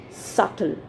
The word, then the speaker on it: subtle: we pronounce it as subtle so the letter b in the center in the middle is silent so we speak it